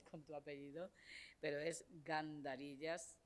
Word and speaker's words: Gandarillas: profesor gandarillas que lo he estado pronunciando lo mal continuamente Perdón con tu apellido pero es gandarillas Y bueno ya sabéis que él es profesor